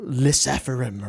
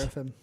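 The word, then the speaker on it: LE SSERAFIM: The just, you know, Lysephirim or whatever. Yeah. And to me, that's just a little bit sad. Lyseraphim.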